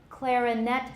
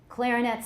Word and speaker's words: clarinet: The stress is on the first or the third syllable depending on the position of the other stresses in the sentence.